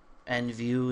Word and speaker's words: NVU: Some people are using NVU. NView is how you pronounce it, and some other people have some other type of HTML editor.